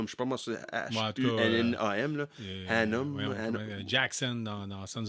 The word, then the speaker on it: Hunnam: Je ne sais pas comment prononcer son nom de famille, là. C'est Charlie Hunnam, qui était dans Sons of Anarchy. Oui, l'acteur britannique. Oui, c'est Hunnam. Je ne sais pas moi, c'est H-U-N-N-A-M, là.